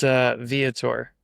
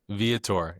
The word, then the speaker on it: Viator: And it's Viator is how you say. Viator.